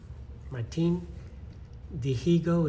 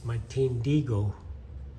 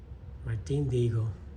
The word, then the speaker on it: Martin Dihigo: And Martin Dihigo is how you hear it pronounced, but in Spanish you don't pronounce the H. So it's Martin Dihigo. Martin Dihigo, the greatest baseball player you've never heard of.